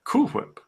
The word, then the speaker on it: Cool Whip: Well, as it should be pronounced, Cool Whip. How else would one pronounce such a word? I mean, we have to distinguish between W-A-L-E and W-H-A-L-E, or W-A-I-L, I suppose.